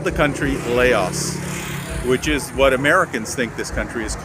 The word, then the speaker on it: Lao: came over here and decided to pronounce it phonetically as they saw it which is Laos they called the country Laos which is what Americans think this country is